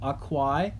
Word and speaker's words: aquae: copied down from above, aquae, the genitive, and then the dative happens to be the same because the dative ending is, again, I, which is spelled A-E.